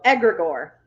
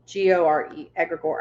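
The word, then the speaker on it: egregore: kind of switch your expectations um yeah so edgar gore uh that's spelled agra gore that's spelled um e-g-r-e-g-o-r-e aggregor i think i spelled it correctly yeah yep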